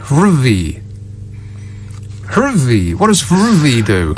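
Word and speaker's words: HRVY: hervy H RV Y ruvy huvy what does ruvy do I think he's pronounced Harvey no it's h r v y ruy I don't know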